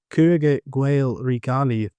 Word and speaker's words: Cogadh Gaedhel re Gallaib: So much so that in the Cogadh Gaedhel re Gallaib (pronounced Kuh-Guh Gael re Gall-Iv), a 12th Century Munster